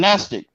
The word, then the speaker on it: Gnostic: G's a silent and Gnostic and the word Gnostic g is silent and it moves in